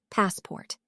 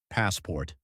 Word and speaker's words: passport: Passport. The stress is on the first part. Passport.